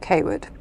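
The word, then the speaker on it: Cawood: no one knows okay it's spelled cwood but you say it kwood yeah it's like where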